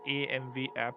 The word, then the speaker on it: AM-Vapp: So basically, it's pronounced as AMV app.